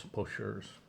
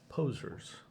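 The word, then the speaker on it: poseurs: I thought it was pocheurs, but then I found out it's really posers, and that sort of helps one understand the meaning when it's pronounced correctly, posers.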